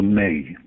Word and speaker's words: Me: And the hard drives of these computers are something called a May. It's spelt M-E, but pronounced May, as in the month of May.